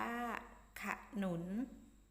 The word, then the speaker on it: ขนุน: มี ขนุน มี ขนุน มี ขอ นำ สะกด ว่า ค่ะ หนุน อ่าน ว่า ขนุน แต่ ฉลาม แต่ ฉลาม